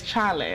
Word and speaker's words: Chale: my name is chale and yeah and by the way it's Charlie I know all those wanted to pronounce it how they wanted to and that's quite a